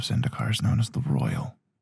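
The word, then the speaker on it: Roil: is known as the Royal. R-O-I-L, I think that's how you pronounce it. Like boil, just with R.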